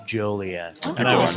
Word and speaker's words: Joliet: where the woman said, even though it looks like Joliet and people are very jolly here, Yeah. it's pronounced Joliet.